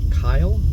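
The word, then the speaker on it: Kiel: And then, so then there was this guy named Richard, I think it was Richard Kyle, but it's spelled K-I-E-L, who owned a ranch up here that I'm going to try and get us to.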